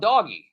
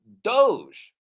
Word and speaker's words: Doge: we're going to talk about doggy what wait not not not doggy do do do Doge Doge oh yeah that Doge well it's spelled dog e that's what I thought it was it's the it's the dog e no no Doge do I like do